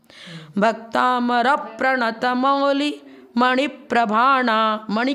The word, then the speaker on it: भक्तामर प्रणत: का नियम है कि आगे डबल अक्षर हो तो उसके पूर्व वाले को दीर्घ मानते हैं, अर्थात उसके उच्चारण में 2 समय लगेगा। भक्तामर प्रणत मौली मणि प्रभाणा, मणि